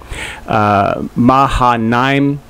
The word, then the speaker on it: Mahanaim: And or Mahanaim, but it's AI, at least whenever the transliteration or in the translation, that's generally pronounced as an I, kind of an elongated I, Mahanaim.